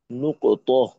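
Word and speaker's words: نقطة: নুকত এটার পূর্ণ নাম আরক উচ্চারণটা নুকত বা আমরা একটু সহজ করে নুক্তা বলতে পারি আমাদের বলার সহজার্থে।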